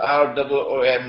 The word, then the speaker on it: روم: It is pronounced as R-O-O-M, Room, but the Arabic word Room is, it describes Eastern Christianity.